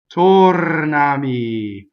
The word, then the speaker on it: tornami: the first word is tornami the accent is on the first syllable in the o is closed meaning that it is Oh like oh and Oates in English right so Oh can